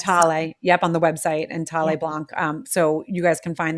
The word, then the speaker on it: Thaleblanc: Tale Blanc is the mother brand, I want to say, is the first brand that we've had first brand that I launched. It's spelled THALEBLANC. That's Tale Blanc.